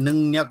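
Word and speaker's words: 능력: लेख्दाखेरि चाहिँ नङ र्यक भयो भने यसको यसको उच्चारण चाहिँ नङन्यक गर्नुपर्छ।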